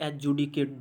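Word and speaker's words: adjudicate: टू एडजडिकेट एडजडिकेट और इसको पढ़ा जाता है एजुकेट डी साइलेंट होता है डी का उच्चारण नहीं होता है एडजडिकेट मतलब जज करना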